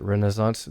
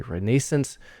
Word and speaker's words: Renaissance: Americans pronounce it Renaissance. The British often say Renaissance. The French say Renaissance in the original French.